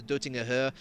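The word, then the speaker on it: Döttinger Höhe: green hell itself the the dutting of her which i've been told is the correct pronunciation from a german the huge long straight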